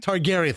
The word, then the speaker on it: Targaryen: Targaryen. Targaryen.